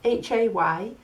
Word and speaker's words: hay: That little word is spelled H-A-Y.